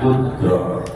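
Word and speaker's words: قدرة: Ya, kalau bahasa Arab itu bacanya qudrat.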